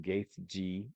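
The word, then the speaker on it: Gaethje: The main event, which is is it Justin or Dustin Gaeth G is how you say his name.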